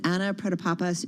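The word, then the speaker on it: Anna Protopapas: let's bring in our next guest she is anna predapapa she's president ceo of the biopharmaceutical company mersana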